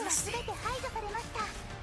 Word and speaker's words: Misty: It's not Mitchie, it's Misty.